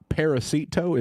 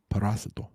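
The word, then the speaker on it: parásito: Hey, did you know that it's uh it's not paracetto, it's par paracetto. Parasito. Parasito. Not paracetto. It's never paracetto.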